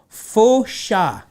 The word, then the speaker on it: fossa: The locals pronounce the name Fosha. And Fosh.